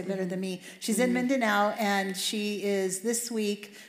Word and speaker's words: Mindanao: okay so specifically right now she's aware in mindana now is that how you say it yes you say better than me she's in Mindanao and she is this week doing training for